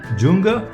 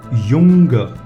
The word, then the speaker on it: Junge: why so you do you read it like not junger but young means a boy okay younger means a boy and this is the pronunciation because it's mentioned j and in german j is y separately it's yot so